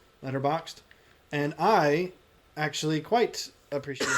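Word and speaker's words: Letterboxd: that there is and it's called letterboxed boxed spelled with no e so boxd letterboxed and i actually quite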